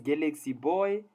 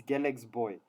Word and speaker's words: Galaxy Boy: There's no such, no. It's Galax boy, ne? Please don't butcher the name out in public. Those that are from PTA would tell you it's Galax boy. We hear people in Joburg calling Galaxy boy.